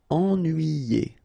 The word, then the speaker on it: ennuyé: Okay, so first en, then nuit, then yé. Ennuyé.